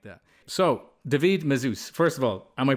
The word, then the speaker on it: Mazouz: So, Davidid Mus, first of all, am I pronouncing your name correctly?